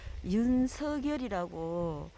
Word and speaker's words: 윤석열: 지난번에 제가 영상에서 썸에 그 윤석열이라고, 그러니까 윤석열 열자의 제일 어, 세 번째 이름 초성이 리얼이 아닌 이응이라고 지적을 해주셔가지고 윤석열이라고 우리가 발음하는 게 정확한 것 같아요.